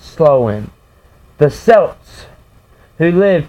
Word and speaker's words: Samhain: ancient selected festival of Samhain pronounced slow in the cells who